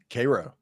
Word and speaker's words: Cairo: Now say it for the little town in Georgia that makes syrup. Cairo. Cairo. Is it really Cairo? It's really Cairo.